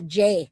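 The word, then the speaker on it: Jai: Yeah, Jay. My name is J. J A I pronounced J A Y.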